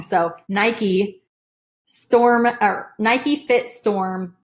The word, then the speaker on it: Nike: find Nike Nike Nike I always say night guys it's gonna be a hard habit to break but I'm gonna try just someone told me that I was pronouncing it wrong so Nike storm a Nike fit